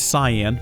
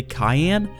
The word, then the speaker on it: cyan: realize it's it's it's it's cyan but I discovered a while back in a different series if you say Cayenne people go crazy nuts they're like oh my gosh you not saying it right and I'm like he